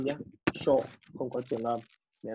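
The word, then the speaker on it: 署: Và nó sẽ đọc là sổ, không có trường âm nhé. Sho không có trường âm.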